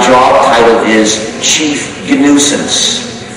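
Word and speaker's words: gNewSense: another recursive acting and there is a nuisance which is written G new sense but that's a joke also you see in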